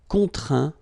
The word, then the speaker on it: contraint: Okay, and as usual, final T here is not pronounced, so you get craint, contraint, plaint.